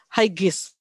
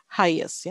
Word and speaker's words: highest: kesulitan dengan kata ini ha ha itu tinggi ya ha ya Hai g-nya tipis ya Hai kalau dia menjadi apa eh eh menjadi lebih tinggi higher kemudian yang tertinggi highest jadi g-nya itu tidak terlalu jelas ya Jadi bukan Hi higher highis not that one ya yang benar high higher highest Ya seperti our our